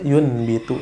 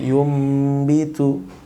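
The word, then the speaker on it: يُنْبِتُ: Tidak dibaca yunbitu tapi yumbitu.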